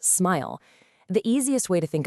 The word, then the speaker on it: SMIL: And one of the answers is a language called smile. Yeah, pronounced smile.